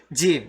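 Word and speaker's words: جيم: Okay, Jim, J, same as the J, Jeep, as I mentioned, Jeep, Jam. Okay, so this is Jim, not Jam.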